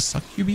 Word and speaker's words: Succubi: The Succubi, yeah, that's how you pronounce it.